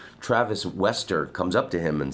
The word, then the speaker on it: Wester: up I keep saying Vester because I lived in Holland and that's how that's how you pronounce W's Travis Wester comes up to him